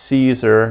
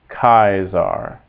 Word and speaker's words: Caesar: as I just mentioned C is always hard like a k sound Kaiser G is always